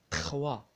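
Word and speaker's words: trois: تخوا، تخوا هي ثلاثة، تخوا ما تتنطقش الأس، تخوا هو الرقم ثلاثة.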